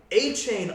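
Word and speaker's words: Achane: Our favorite player from last week, and now I actually know how to pronounce his name, A-Chain on the Dolphins.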